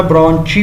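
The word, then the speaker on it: bronchi: तो ये दो तरह की जो है ना ब्रोंची भी इसको कहते हैं। ब्रोंकी भी पढ़ते हैं। वो आपके अपनी प्रोनाउंसिएशन पर है।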